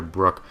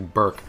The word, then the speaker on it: Burke: up we're going after Brooke who I figured out I was pronouncing her name on it's actually Burke but I have never